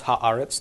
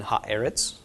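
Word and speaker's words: הָאָרֶץ: So we would think ha-eretz, but this is just an irregularity where eretz becomes aretz. So this is correct. And yeah, it is easier to pronounce ha-aretz than ha-eretz. It's a little less of an awkward stop. So that may be the reason.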